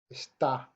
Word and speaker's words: está: It's really important when you're writing Spanish that you write those accents in, and then when we're saying the words that we place that vocal stress on the second syllable.